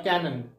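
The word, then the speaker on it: cannon: आप देख रहे हैं ये दोनों बोलने में एक जैसे हैं कैनन और कैनन ये भी कैनन ये भी कैनन उच्चारण एक जैसा है लेकिन मतलब और स्पेलिंग अलग है इसकी स्पेलिंग है सी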